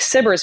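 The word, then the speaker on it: SBIRS: um to do the sybers mission which I was like I don't even know what sybers is I can't spell it it's spelled s-b-i-r-s not s-i-b-i-r-s like you would think so I said no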